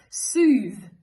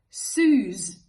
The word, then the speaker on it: soothe: still be intelligible but with a word like soothe for example if a person pronounces it as sues um probably okay more or less right if the person pronounces it as soon I don't know that to me sounds like a completely different word even though it doesn't